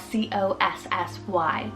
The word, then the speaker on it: Cossy: Then for the boy side, I have Cossy, spelled C-O-S-S-Y, Cossy.